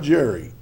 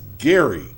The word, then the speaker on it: Gerry: No matter what you think, this is not pronounced the way you think it should be pronounced. It's not Jerry. Do not go to this place and say, "Is this Jerry New York?" because you will be laughed. This is Gary, and it's going to be the Gary Rodeo.